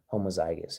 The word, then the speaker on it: homozygous: Yeah, homozygous is what that's pronounced as.